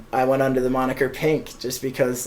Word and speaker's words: P_NK: think Tyler night and the first time you pronounce my name you said Punk like I don't blame you for thinking that but it's pink it's like the I